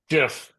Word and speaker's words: GIF: Is it pronounced GIF or GIF? Jif.